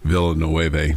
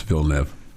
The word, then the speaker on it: Villeneuve: Villeneuve, that's the kind of one of the oddest pronunciations of a word that looks like it should be Villanueva, but it's not. It's Villeneuve.